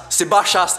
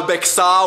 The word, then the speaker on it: Bachas: Bachas, c'est tout. C'est pas Bexa ou Bexas, non.